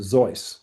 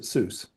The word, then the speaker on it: Seuss: And so, uh, actually he pronounced it Zoe, but we pronounced it Seuss.